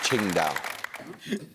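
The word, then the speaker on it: Qingdao: the angiz one yes that's one possible romaniz I was looking for Ching down your bonuses are character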